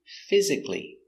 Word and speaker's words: physically: Pronunciation, physically.